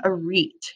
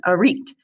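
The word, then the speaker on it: arête: also related to glaciers this one also has a french origin you pronounce this one a reet here it is again a reet okay so an arena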